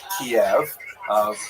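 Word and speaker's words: Kyiv: but they centered around the city of T. That's the Ukrainian pronunciation by the way that's favored today because of course Ukrainian is the dominant language in the country. But it used to be called in English Kiev, which is closer to the Russian pronunciation because Russia dominated much of Syria in the modern era.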